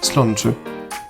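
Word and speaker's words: sláinte: Ça s'écrit S-L-A accent aigu I-N-T-E et ça se prononce tout simplement slanche.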